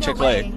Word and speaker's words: Chick-fil-A: Stole your chick, and now we're eating Chick-fil-A. So it sounds like chicken. Wait, really? It sounds like chicken, guys. It's a play on words. Really? And fillet rhymes with fillet.